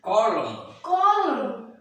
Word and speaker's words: column: Next, if a word ends with MN, N is silent as very important words.